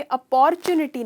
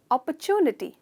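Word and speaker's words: opportunity: अपॉर्चुनिटी, तो ये अपॉर्चुनिटी नहीं है, ये है अपॉर्चुनिटी।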